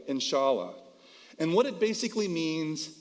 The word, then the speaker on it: inshallah: The word is spelled grammatically E-N-S-H-A-L-A, inshallah.